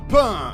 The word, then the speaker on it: Pain: Et donc toi, le page de la Katsuki, pain. Ça se prononce Pain.